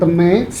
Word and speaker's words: Teume: Teme itu teume kan ya? Bacanya teme. Teme. Oh, bacanya teme. Eh, dari treasure maker. Kalau di Korea itu treasure itu dibacanya trejo. Maker jadi meko. Nah, jadi trejo meo jadi tee.